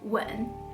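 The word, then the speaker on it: 吻: And that's the difference between wen and wen.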